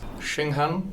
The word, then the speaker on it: Shenghan: My name is Monty Ward and my guest today is Shinghan Cara Wang. Very perfect pronunciation there.